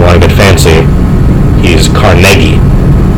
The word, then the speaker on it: Carnegie: through Carnegie state he steeply his name is pronounced Carnegie so if you want to get fancy he's Carnegie not Carnegie he makes his money off of Carnegie steel